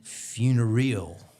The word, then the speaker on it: funereal: Funereal, and it is a real word. I looked it up. Funereal. She says black at a wedding looks funereal, which is like funeral-like.